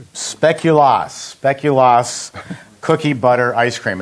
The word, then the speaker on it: Speculoos: It's called Speculoos cookie butter ice cream.